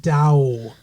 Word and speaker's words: Tao: Yeah, it's spelled T-A-O, but it's pronounced Dow.